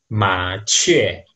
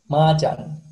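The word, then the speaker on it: 麻雀: Yang terakhir ini, ma chue.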